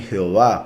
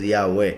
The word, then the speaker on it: Yahweh: Dicen Jehová, pero en hebreo es Yahweh. Es la verdadera lengua, la verdadera pronunciación, porque repito, los nombres no se traducen.